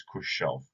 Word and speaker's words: Khrushchev: about Stalin and then Khrushchev or sometimes Khrushchev in the more appropriate Russian pronunciation this lesson we're gonna